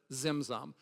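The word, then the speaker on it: צמצום: There is actually should be a T in front of each of the Z's, but just phonetically to pronounce it tzimtzum.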